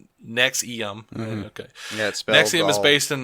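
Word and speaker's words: NXIVM: purported self-help programs within his umbrella organization nexum pronounced nexum okay yeah SP is based bullshitty yeah and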